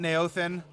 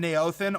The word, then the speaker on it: Neothen: We have Saint Neothen, and both the G's in Neothen are silent. So just remember that. When you're pronouncing Neothen, both the G's in his name are silent.